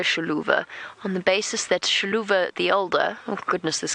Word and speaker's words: Xiluva: u v a sha so the sh sound I'm not pronouncing it 100% correctly but the x is a sound in the local language and as I said